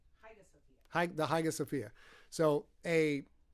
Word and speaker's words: Hagia Sophia: Hagia Sophia.